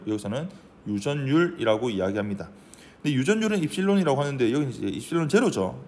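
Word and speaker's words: ε: 발음은 입실론이라고 읽습니다.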